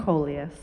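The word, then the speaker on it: Collias: Can you pronounce her last name for me? Coleus.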